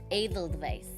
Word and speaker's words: Edelweiss: Edelweiss? Edelweiss. Thank you. I always forget their pronunciation.